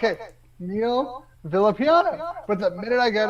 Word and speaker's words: Villapiano: it's tough uh but it's uh villa piano in case anybody would like to know see here's the thing